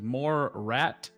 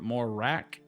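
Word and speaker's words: Morat: That was more rat, not more rack.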